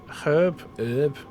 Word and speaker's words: herb: Both pronunciations of herb are technically correct, but the English did add the h sound.